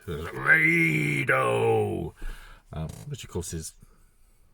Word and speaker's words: Raidho: The books have slightly different variations on the pronunciation for it. I guess I kind of like the raid. Raidho!